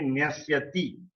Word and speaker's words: Nyasyati: I think I have not pronounced it correctly when I recited first. So if it is Swami in the first line, in the second line it should be Nyasyati. it should end with TI.